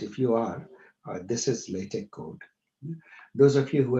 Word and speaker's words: LaTeX: Now, LaTeX, it's written as LATEX, but pronounced as LaTeX.